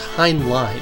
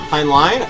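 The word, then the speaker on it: Heinlein: by the way I always thought it was hland too it's pronounced hind line hind line oh okay and I didn't know that it's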